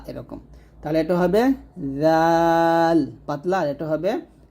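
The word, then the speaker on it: ذال: শুদ্ধ করতে পারবেন না জাল উচ্চারণ করতে হবে জিহ্বার আগা সামনের উপরে দুই দাঁতের আগার সঙ্গে লাগিয়ে পাতলা করে জাল আর যা উচ্চারণ করতে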